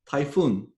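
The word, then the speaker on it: Tayfun: uh i'm typhoon my name is pronounced like typhoon which means uh hurricane in the southern pacific uh draw your own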